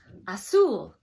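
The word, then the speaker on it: azul: either and haggle and blue has a Z but it sounds like an S in there iseul a su o gray wasn't on here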